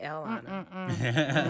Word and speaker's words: Elana: I got 5 letters, 3 syllables, and can you say Lana? Because you can. So if you can say Lana, you can say Elana.